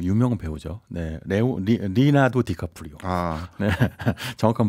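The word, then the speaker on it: Leonardo DiCaprio: MS 창업자인 빌게이츠 있고요 그리고 그 유명 배우죠 리나도 디카프리오 정확한 발음입니다 관심이 굉장히 많이 모았고요 그래가지고 2022년까지 지난해까지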